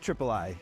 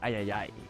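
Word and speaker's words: Triple-I: Yeah, I'm pretty sure it's pronounced Triple I. You know, like AAA, but with I for indie. Are you sure? That doesn't really like roll off the tongue like Ayayay.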